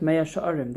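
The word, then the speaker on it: Mea She'arim: Now, when we read this, I totally thought that it was Sa'irim, like a measure. You'll see in a second why, but Pesach was right, Mea Sha'arim. That is how to pronounce this word.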